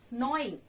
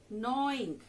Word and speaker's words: gnawing: Gnawing. Children, G is silent here. Gnawing.